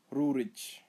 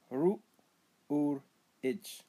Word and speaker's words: Rurich: Rurich, foggy. Pronounce as ru ur itch.